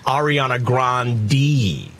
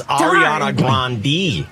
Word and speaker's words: Ariana Grande: grande i would say is it ariana no it's ariana grande you're just your dislike is noted and yet she's not changing the family name for you lauren it's ariana grande she hasn't corrected the